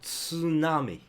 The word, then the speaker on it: tsunami: Remember, we got like tsunami. Okay, tsunami. That English sound, ironically, is the Japanese sound of this specific word, specific hiragana.